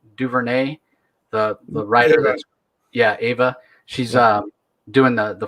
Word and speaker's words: Ava: their name i always get it i always mispronounce it ava or eva duvernay the the writer yeah ava she's uh doing the the fourth world movie